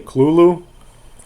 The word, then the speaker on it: Cthulhu: hp lovecraft cthulhu mythos now cthulhu is pronounced now uh came across a lot of information saying that uh hp lovecraft would say klulu uh that's uh how